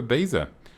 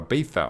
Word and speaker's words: Ibiza: there you can even go to ibiza or a beefa i think is how it's pronounced don't uh hold me